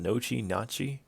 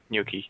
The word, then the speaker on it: gnocchi: It's was it how do you pronounce that? Nachi for the cargo. Gnocchi. Gnocchi. Yes.